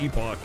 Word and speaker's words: epoch: It's generally pronounced like epic. I've heard both, though. Like, generally pronounced by whom? Because I've heard people say it's generally pronounced epoch.